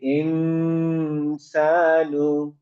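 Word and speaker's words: الإنسان: তাহলে এখানে আমার নুনের উচ্চারণ ক্লিয়ার হবে না, কিন্তু গুন্না দিয়ে সাউন্ডটা হবে। তাহলে আমি এখানে বলবো হচ্ছে আল ইনসানু। ইনসানু জি। মানে নুনের আমি ডাইরেক্ট বলবো না, ইনসান বলবো না, বলবো ইনসানু।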